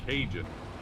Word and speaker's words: Kajin: It's Cajun.